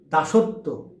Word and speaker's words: দাসত্ব: এখানে কিন্তু শেষে বফলা থাকার কারণে এ তটা দুইবার উচ্চারণ হচ্ছে।